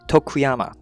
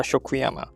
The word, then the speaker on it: Tokuyama: Okay, Tokuyama, not a Shokuyama.